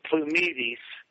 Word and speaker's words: Plumides: plumides plumides plumides okay actually the Greek the Greek pronunciation is plumides ah and so so we just kind of we just say it with a sou accent plumides plumides yeah and uh you're